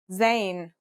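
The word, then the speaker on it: ز: In terms of pronunciation, you say it just like the English Z, as in zebra, or Al Jazeera.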